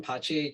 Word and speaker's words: PACE: We call them PACE just because that's how it's pronounced in Italian, that's how it's spelled, and it means peace as well.